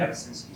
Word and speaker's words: Kabasinski: Eddie, could you pronounce that, please, for me? Kabasinski, sir.